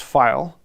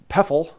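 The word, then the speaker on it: Pfeil: it's really cool or most germans will tell you it's pronounced file however i've talked to several people at the company and said that it was uh peffle um and then i talked to a couple other people that pronounced it another way um and so pronunciation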